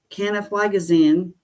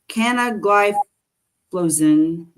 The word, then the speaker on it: canagliflozin: So sodium glucose transporter 2 inhibitors blah, blah, include canaflagazine, dapagliflozin. Okay, I butchered that first one. Canagliflozin, dapagliflozin, empagliflozin, and erdagliflozin.